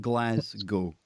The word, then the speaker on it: Glasgow: Yes, forget the W. Just think Glasgow.